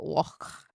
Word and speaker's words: Loch: And you have to say it Loch.